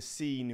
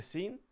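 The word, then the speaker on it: Seine: remember swimming in the scene River mate the scene yeah the scene I think it's how you pronounce it mate how was that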